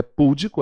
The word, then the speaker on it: pudico: eu falei para vocês não é pudico ela não é proparoxítona se ela fosse eu estaria acentuada a Bruno ser pudico tá